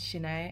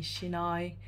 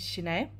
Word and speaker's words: Sinae: So my name is Sinae. It's spelled Sinae. So Korean AE spelling is E.